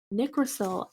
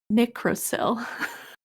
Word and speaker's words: Nicrosil: So if it's derived from nickel, I would assume that it's pronounced Nicrosil.